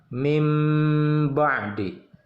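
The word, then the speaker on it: من بعد: Contoh ditulis min ba'di, dibacanya mim ba'di. Mim ba'di, seperti itu.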